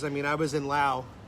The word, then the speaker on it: Laos: I mean, I was in Laos. It's pronounced Lao, not Laos, by the way, 2 years ago.